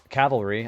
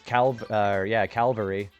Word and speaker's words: cavalry: I didn't know how to say cavalry. I used to say it as Calvary.